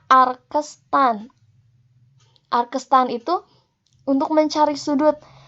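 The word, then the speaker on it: arctan: Ini pangkat -1, ini dibacanya arkestan.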